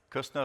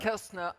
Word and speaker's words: Kerzner: How do you pronounce it? Kerzner International. Kerzner International, sorry.